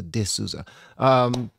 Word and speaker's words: D'Souza: DSouza.